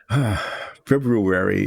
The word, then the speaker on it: February: February is like Wednesday. It's a word that is not pronounced the way it's spelled, I guess. People say February, leaving out the R in February.